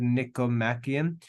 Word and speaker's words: Nicomachean: That's how you pronounce that word, Nicomachean.